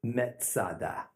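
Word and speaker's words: מצדה: Masada is merely a Roman way to pronounce the Hebrew word Metzada.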